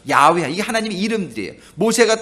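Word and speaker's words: Yahweh: 하면은 그리고또 하나님은 조호바 원래는 여호와 야회 히브리 발음은 야외 이게 하나님의 이름들이에요 모세가 또 하나님의 이름을 뭐라고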